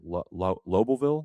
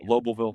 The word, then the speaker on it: Lobelville: Loville. Lobbleville. That's going to be Lobelville. Hold on, I can say Loville.